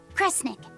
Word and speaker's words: Kresnik: The other word attached to it is pronounced cre. Which of those first two readings feels right to you? Sound it out. Cre, Snira, Cre, Snick. Kresnik. Kresnik feels right somehow.